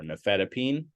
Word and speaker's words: nifedipine: p i n e which is not pronounced Pine it's actually pronounced peen um and so the most common ones we would see are amlodipine uh felodipine or nifedipine these work primarily in